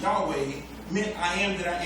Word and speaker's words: Yahweh: letters YH wh in the Hebrew language commonly pronounced Yahweh meant I am that I am to paraphrase